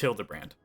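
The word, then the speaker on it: Hildibrand: It's pronounced Hilda brand.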